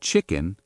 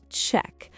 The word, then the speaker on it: chicken: Can I have the chicken, please? Very good. Again, can I have the chicken, please? Listen to the pronunciation. Can I have the chicken? Not check. Chicken. 2 parts.